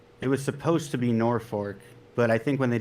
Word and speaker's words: Norfolk: Imagine Yeah, a there's a city in Nebraska too called so it's spelled Norfolk. So you think Norfolk, right?